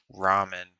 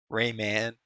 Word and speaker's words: ramen: Ramen. It's pronounced ramen, by the way. Rayman. Hey, you want some Rayman noodles?